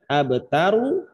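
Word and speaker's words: الأبتر: Tulisannya kan abtaru, maka cara bacanya adalah abtaru. Taru. Roknya tetap dibaca tafkhim tebal gitu.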